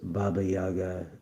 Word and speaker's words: Baba Yaga: To the Slavic peoples of Eastern Europe, Baba Yaga, pronounced Baba Yaga, is the old woman of autumn, whose spirit lived in the last kernel of harvested grain.